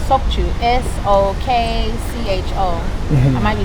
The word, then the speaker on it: Sokcho: S O K C H O. I might be saying it wrong. Sokcho Sokcho Sokcho Sokcho And Seoraksan Mountain is there.